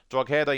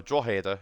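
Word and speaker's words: Drogheda: Sen Pats getting the top four bottom three drader United or dader as it's actually pronounced um I'm not allow so I will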